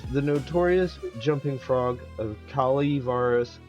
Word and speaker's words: Calaveras: This is the notorious jumping frog of Kali Varus County, pronounced Kal Varus.